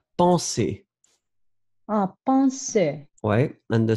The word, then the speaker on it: penser: Remember that you have the nasal en, so it's really en. Penser.